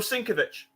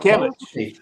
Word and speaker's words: Sienkiewicz: Bill Sinkovich. Oh, Sinkovich did that. Sienkiewicz. Okay. That's It's nice.